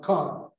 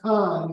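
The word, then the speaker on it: Caen: uh Museum in uh Khan It's c-a-e-n but it's it's not con it's not there are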